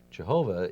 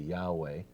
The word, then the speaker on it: Yahweh: and I said why I think the pronunciation Jehovah is kind of like a mistake by German biblical scholars of the 1800s and that further scholarship says that a more accurate pronunciation would be Yahweh and that of course